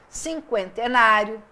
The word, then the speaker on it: cinquentenário: dúvida Então eu tenho Cinquentenário 50 cinquentão cinquentona com o acordo que entrou em vigor em 2012 eu não uso mais o trema mas esse U é pronunciado não é um dígrafo aqui eu tenho uma